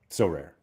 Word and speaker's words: Sorare: recently well what does what does Maxim say so rare So Rare the emphasis is on the rare whereas we tend to